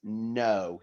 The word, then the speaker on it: know: Okay, the next word is no. Now, I'm going to tell you now, this has got a silent k at the start of it.